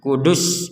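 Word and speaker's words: قدس: apa perhatikan di sini kata alqudus kita tidak boleh boleh membacanya dengan panjang alqudus enggak boleh ini enggak boleh dibaca panjang alqudus loh kok seruwet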